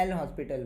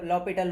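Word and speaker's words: L'Hôpital: आप इसको लॉपिटल rule क्यों बोल रहे हो? इसमें एच साइलेंट होता है। इसलिए इसको लॉपिटल रूल बोला जाता है।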